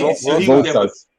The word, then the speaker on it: Rojas: Is that how you pronounce him? Rojas? How many? Rosas.